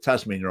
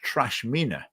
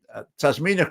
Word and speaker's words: Tasmina: that David Coburn had deliberately mispronounced her name repeatedly through this hustings, and he kept calling her Trashmina and other variations on the name. And Tasmina corrected him.